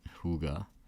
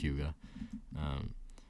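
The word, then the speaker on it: hygge: but also yeah but from what I understand it's hyuga but it is a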